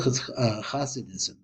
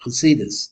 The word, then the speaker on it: Hasidus: working with the Hasidic, real Hasidism, or Hasidus, that's the right way to say it, is full of the Ri, full of Zohar.